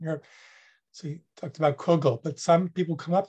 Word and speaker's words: kugel: So he talked about Kugel, but some people come up to him and they would say, Comrade Klessens, you're saying it wrong. It's Kegel, right?